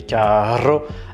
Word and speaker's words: carro: Carro avec un seul R signifie cher et carro avec deux R signifie voiture.